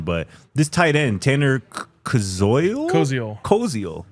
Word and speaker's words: Koziol: I want to ask Ryan about maybe another guy who we might need a pronunciation correction on, but this tight end, Tanner Koziol? Koziol.